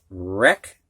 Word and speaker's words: wreck: Now we're going to have words with a silent W. And these W's are followed by an R. You can hear the R, but not the W.